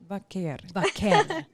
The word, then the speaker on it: Vaquer: I guess just said vakare but can you say it how you say it? Do you hear? Wait. Well, she rolls. Yeah. Really good. Vaker.